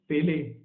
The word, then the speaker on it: Pelé: थे एज a goalkeeper, उनके नाम को वो गलत प्रोनाउंस करते थे और बिले की जगह पेले बोल दिया करते थे, जिसकी वजह से उनका लोग मजाक उड़ाया करते थे।